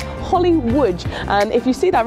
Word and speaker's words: Łódź: a little place called Holly Łódź, and if you see that written down, it looks a bit odd. It looks like Holly Lodz, but if you pronounce it correctly as Holly Łódź, it makes a lot